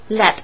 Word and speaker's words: lead: ，总的钱额。The use of lead in petrol is prohibited。大家会注意到我的发音，不是 lead 啊，lead 是动词领导，lead